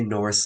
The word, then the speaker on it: Nourse: no, no, the U throws everyone off, but just say Norse like you would like Norse mythology.